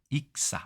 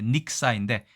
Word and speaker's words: 익사: 익사, 원래 닉사인데 보통 두음법칙의 익사라고 얘기하죠.